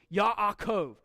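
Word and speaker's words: יַעֲקֹב: Yaakov. So we have here the first syllable, Yah, the yud with the patak, Ya'ah.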